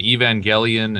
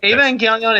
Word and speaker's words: Evangelion: kids- I have video of me mispronouncing Evangelion for like 3 seasons until I was corrected. Evangelon.